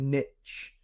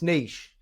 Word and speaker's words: niche: all we're gonna we're going to use the English pronunciation rather than the American right so we're not going to I'm going to resist the urge to call it a niche um you like no it's niche um yeah so I mean